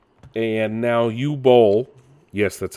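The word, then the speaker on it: Boll: the Flop that was Borderlands 3 and now you bowl yes that's how you say his name the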